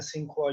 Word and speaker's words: Tsinghua: टी इसमें silent है, इसे पढ़ते हैं सिंखुआ यूनिवर्सिटी।